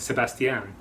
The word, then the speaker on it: Sebastian: which was my name she pronounced it sebastian and that is correct well done um she